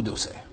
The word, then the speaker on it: Auxerre: Est-ce sa faute, après tout, s'il savait déjà à 12 ans que Castellane se dit Castellane, et qu'on ne prononce pas l'X de Bruxelles ou d'Auxerre?